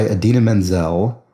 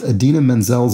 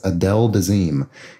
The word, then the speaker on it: Idina Menzel: as being the star of the film Gotti, mispronounced Idina Menzel's name at the Oscars, I guess, as Adele Dazeem.